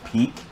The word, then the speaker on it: pique: that would pike his My realization. You realization? mean peak? That's the one. Pique, pike. Yeah, peak. It's pronounced peak there.